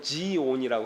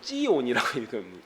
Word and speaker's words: 시온: 다윗성을 이제 원래는 우리는 이제 시온이라고 하는데 영어로는 지온이라고 하고 어 히브리어 발음으로 찌온이라고 읽습니다.